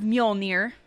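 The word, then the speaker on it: Mjölnir: Wrath of Muolnir.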